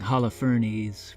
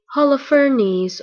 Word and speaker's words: Holofernes: So I wanted to do a video about Judith slaying Holofernes, which by the way is the correct pronunciation. Holofernes or Holofernes.